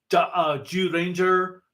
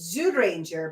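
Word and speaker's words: Zyuranger: J sound just like J Ranger dauin even though they're spelled with Z's it's just the way they pronounce the Z's in Japanese absolutely no that makes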